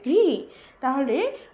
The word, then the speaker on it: ঘৃত: ত্রিণ ঘ ঋকার ঘৃ আমি এখানেও এখনই বললাম ঋকার যখন ঘ এর সাথে যুক্ত হবে তখন উচ্চারণ হবে ঘৃ তাহলে ঘ ঋকার ঘৃ এবং